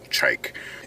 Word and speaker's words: Chike: That is the correct pronunciation. It is Chike. And so, it's funny because if you go on their website, you'll see a whole paragraph of how to pronounce the name. It's not Chike, it's not Chike, it's Chike.